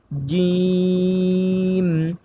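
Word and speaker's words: جيم: স্পষ্টভাবে তা জিম জিম হরফটা উচ্চারণ করতে হবে শক্তভাবে। কারণ জিম হরফটা হচ্ছে শক্ত হরফ।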